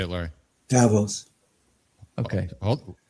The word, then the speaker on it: Davos: they said at, how they presented themselves at Davos.